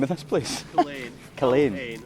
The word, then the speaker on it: Culzean: Culzean. Culzean, not Culzean. Not Culzean. Not Calzone.